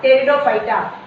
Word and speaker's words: Pteridophyta: P is silent here, Pteridophyta.